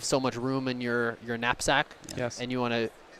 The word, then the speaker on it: knapsack: Snapback problem. Snapback? Yeah. Okay. And what is Snapback? I mean, it's kind of algorithm similar like backtracking, right? Yeah. Oh, knapsack. Knapsack. Okay, yeah. Oh, we pronounced wrong.